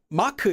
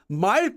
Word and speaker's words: Mark: But what if you wanted to say, no, my name's not Maku, it's Mark. 저는 Mark예요, because that sounds more like Mark in English, Mark.